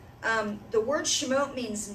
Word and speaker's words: Shemot: Shemot is, well, it's Shemot or Shemot. It depends on whose pronunciation you're following. One of the fun things about Hebrew is the vowel markers aren't there in Torah. So, depending on if you're Ashkenazi, if you're Sephardic, if you're coming into it from another perspective, the modern pronunciation is usually Shemot.